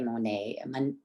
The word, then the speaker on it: Monaye: And when Monet and I say Monet, am I saying it right?